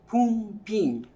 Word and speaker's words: pumpin: A particular indigenous music is called pumpin, pronounced pumpin, and I will perform.